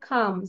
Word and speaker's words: calm: The river wasn't খাম। CALM, খাম। এল এর উচ্চারণ হবে না, খাম।